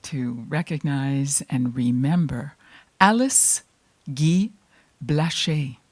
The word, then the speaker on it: Guy: Well, this afternoon, I would like to recognize and remember Alice Guy Blaché. Guy is spelled G-U-Y. We would say Guy, but in France, where she was born, it's Guy, and her married name was Blaché, B-L-A-C-H-E, aigu.